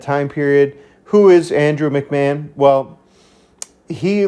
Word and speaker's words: McMahon: Oh man, I keep forgetting how to pronounce his last name. I just looked it up. McMahon. McMahon.